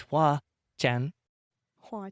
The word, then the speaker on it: Hoa Chanh: I'm really excited to talk to my guest today, who's helped me pronounce her name, and she's going to explain to you what it means. It's Hoa Chan. Hoa Chanh.